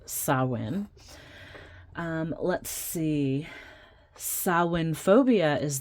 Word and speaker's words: Samhain: So it looks like Samhain, but it's pronounced Samhain.